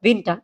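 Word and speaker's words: Winter: উইন্টার না উইন্টার ওকে যদি আমরা উইন্টার বলি তাহলেটা ইংরেজির উইন্টার হয়ে যাবে হ্যা সেটা কিন্তু জারমানে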